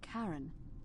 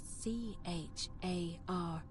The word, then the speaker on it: Charon: The name you heard wasn't Charon. It was C-H-A-R-O-N. As in Charon, the ferryman of the dead.